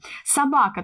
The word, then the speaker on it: собака: Собака, тоже три слога, ударение падает на второй слог, и в первом слоге безударный гласный О.